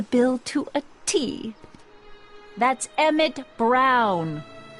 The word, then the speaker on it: Emmett Brown: to a tee that's Emmett Brown rhymes with clown which I'm beginning to